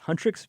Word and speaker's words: HUNTR/X: I think it's pronounced Huntrix, but it's spelled Hunter, HUNTR/X. Okay.